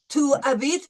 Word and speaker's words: habites: No S. We don't pronounce the S.